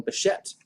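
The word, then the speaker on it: Bichette: pronounce his name so my apologies to beshet sorry sorry buchet i won't make that mistake again tomorrow i will not make that mistake again i will call him beshette so i'll see you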